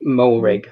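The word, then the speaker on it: Moehrig: from tcu uh trayvon uh how do you pronounce his last name mohrig thank you yeah uh i mess it up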